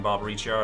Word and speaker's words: Barbariccia: I've betrayed no one, Barbariccia. I've returned to my senses. I pronounced that one right. Correct? Barbariccia.